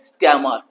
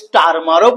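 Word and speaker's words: Starmer: Okay question nine present British prime minister কে স্ট্যামার স্ট্যামার এই আর এর উচ্চারণ করতেও পারো নাও করতে পারো স্টারমারও বলতে পারো।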